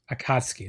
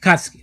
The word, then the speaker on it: Akatsuki: Akatsuki, like that. Akatsuki. Yeah. Yes. Okay. I think I got. Hopefully, I can remember now. Akatsuki. Yeah. Don't pronounce them individually. Jam them together.